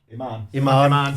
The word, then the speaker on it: Iman: Iman.